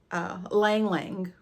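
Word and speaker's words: ylang-ylang: So the keynotes for Maldives in a Bottle is rosemary, wild lemon, star fruit, banana blossom, lang lang, the Y is silent, I went to double check, and coconut milk.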